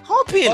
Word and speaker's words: hoping: Son H c'est ça ali pour compte li ou si vous dit oh donc premier syllabe là c'est ho, l'autre là c'est ping, hoping.